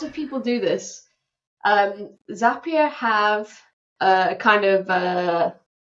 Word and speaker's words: Zapier: they've never come across it before what is zapia well the first thing I'm going to do Ryan is correct you in terms of the pronunciation because it's actually zapia and lots of people do this um zapia have a kind of a what would you